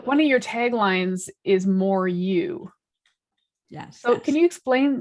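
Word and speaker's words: MOARU: love it it's always frantic always branded so more you i actually spell it m-o-a-r-u and that happened because of uh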